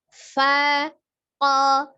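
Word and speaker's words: فَقَ: Kemudian ko-nya dari alisan. Jadi tidak ada perubahan. Tidak faqo ya, tidak termasuk huruf yang safatain qafnya. Hanya perubahan dari lidah saja. Sekali lagi pengucapannya faqo, faqo. Ya, seperti ya, kalau disambung pun seperti itu. Faqo, Ya, sekali lagi. Faqo. Ya, begitu ya. Jadi bukan faqo.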